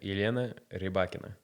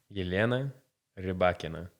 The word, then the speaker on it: Elena Rybakina: How do you pronounce Rybakina's name? That was very good, yeah. Yelena Rybakina. Say that one more time. Yelena Rybakina. That's so good you can say it a third time. Yelena Rybakina.